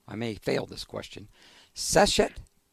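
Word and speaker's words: Seshat: Normandi, tell us about the power of the goddess, and I may mispronounce this, so I may fail this question. Seshet? Seshet.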